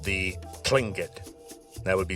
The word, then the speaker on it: Tlingit: Now, a lot of people have changed this to a more English-friendly pronunciation, Klinkit, kind of changing that t to a k sound.